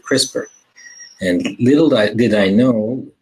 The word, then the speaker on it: CRISPR: get on with it what the heck is crisper which is spelled CR is P R what does it